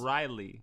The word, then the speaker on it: Ryley: It's supposed to just roll off the tongue. Say it. Riley.